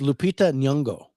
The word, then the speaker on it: Lupita Nyong'o: I not even Oh, try to it's pronounce her name. it's Lupita Nyong'o is her name.